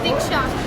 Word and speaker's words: Diksha: Diksha. Diksha. You have to pronounce Diksha? your name. Diksha. Diksha. No P. Just stop at the A.